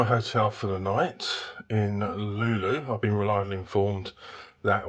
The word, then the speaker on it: Luleå: So this is my hotel for the night in Luleå. I've been reliably informed that what it's pronounced.